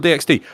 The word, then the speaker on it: DxD: We've got High School DxD. Like, oh, look, she's just a school kid. Why is she so important? You don't pronounce the X.